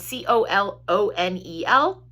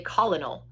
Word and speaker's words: colonel: southern Colonel and that's always a weird word it's spelled c-o-l-o-n-e-l and I always want to say colonel but it's colonel Colonel Jefferson Beaufort and his